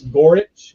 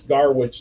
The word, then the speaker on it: Gorich: And his name is actually Chris Gorich, is how you pronounce it, but I mispronounced it early on, so I always call him Chris Garwich now. I like pronounce the Garwich part.